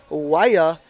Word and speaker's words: Waya: Again, that's going to be Waitakere Wild Waya. I got a pronunciation schooling on here. It sounds like fire. So fire and Waya.